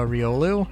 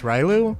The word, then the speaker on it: Riolu: the only except uh I did not pronounce Riolu as uh Riolu I pronounced it as Riu because I was a